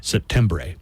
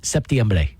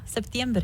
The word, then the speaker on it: septiembre: How do you pronounce September in Spanish? Septembre. I always thought it was septiembre. Yeah, good job, Steve. Yeah, septiembre.